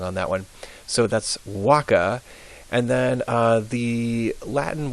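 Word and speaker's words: vacca: like K's um now V's are always pronounced like W's so this first word it looks like vaka but it's pronounced Waka w w Waka as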